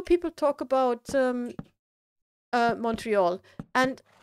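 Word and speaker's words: Montréal: um uh Montreal and I only recently realized that it's actually a French word and the real pronunciation is moral so the Royal Mountain I mean like when I figured this out it was like literally my my head exploded I went like what I mean it's like I have always pronounced it the wrong way I have also read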